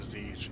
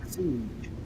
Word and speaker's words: Zyg: Or Zyg, how do you pronounce that? Siege, and I'm Like Siege. almost there. Yeah, like Siege with a Z.